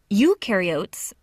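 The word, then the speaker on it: eukaryotes: Ukarotes. The U rhymes with do.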